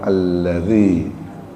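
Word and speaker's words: الذي: J harus bed harus dibedakan ya antara dza dengan za. Kalau dza itu dalal. Kalau za itu seperti kata zakat. Nah, zakat zakaria itu pakai zai. Tapi ini pakai dalal dibacanya alladzi. Jadi bukan alladzi ya.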